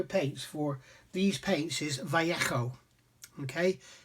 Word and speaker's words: Vallejo: But apparently the correct pronunciation for Viejo Paints for these paints is Vallejo. Okay, it's Vallejo. The J is pronounced as a H.